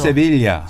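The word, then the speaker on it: Siviglia: 이태리 사람이니까 이태리 발음으로 이태리에서는 얘기하죠. 세빌리아.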